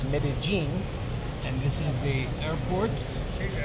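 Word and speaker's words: Medellín: medene it is now which is spelled medine but it's medene and this is the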